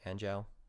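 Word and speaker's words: Anjou: the count of Andrew anjao how you pronounce it a-n-j-o-u his name was Jeffrey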